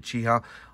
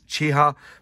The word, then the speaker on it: Chi-Ha: And that's how you say it, Chiha. I've had it on good authority. It's Chiha.